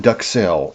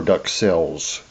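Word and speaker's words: duxelles: And this is perfect with morelss is called ductel or ductels. Some people pronounce the S, some do not.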